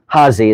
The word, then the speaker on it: Hasse: up there Rudy Hassey Hassey is how you pronounce it and he collected a massive library of sailing books and then I got donated them by his son Bruce.